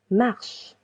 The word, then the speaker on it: marches: Tu marches. Tu marches. Letter S is silent.